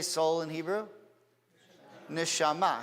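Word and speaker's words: נשמה: Neshama. How do you say breathing? Neshima. Neshama, soul, neshima, breathing. It's the same word.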